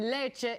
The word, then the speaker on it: Lecce: We just received the video feed of Treasury Secretary Tim Geithner's news conference at the G8 summit in Lecce, Italy.